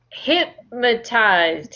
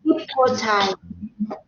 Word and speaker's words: hypnotized: Have you ever been have you ever been hypnotized? Hypnotized. Hypnotized. Think of your hip. You know, on your waist, you have a hip. It's the same pronunciation.